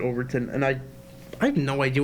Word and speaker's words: Overton Window: to do with an overturned window over to Overton Window I think you pronounce it Overton and I have no